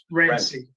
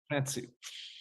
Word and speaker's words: Francie: And do you say Francie is how you say your last name, or Rancy? Francie.